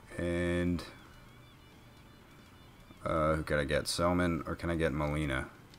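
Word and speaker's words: Gsellman: So Antonio Bastardo, and who could I get, Selman, or can I get Molina? I'm pretty sure it's just Selman. I think the G is silent.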